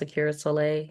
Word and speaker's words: Aqiera Solai: It's pronounced Akira Soleil.